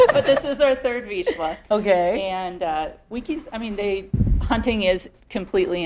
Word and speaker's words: Vizsla: This is a Vizsla, yes.